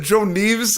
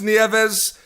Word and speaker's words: Nieves: what I saw a lot of people said Joan leaves and you know what the problem pronunciation is Nieves I apologize no worries no worries but that